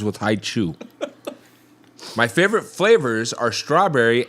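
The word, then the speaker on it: Hi-Chew: my birthday is coming up and i like hai chu i also wear a size 13 shoe which rhymes with hai chew my favorite flavors are strawberry apple and grape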